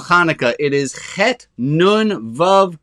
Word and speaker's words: Hanukkah: And the word Hanukkah I want to talk about, if you say it properly, it's got that little at the beginning.